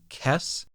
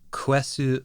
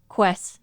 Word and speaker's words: Quess: Sometimes people pronounce this name Kess. The Japanese is Quessu Pariah. The way that it's romanized is Quess, which sometimes ends up making a hard K sound rather than a U sound.